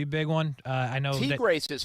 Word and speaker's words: Tigres: I know Tigres is how you say that, huh?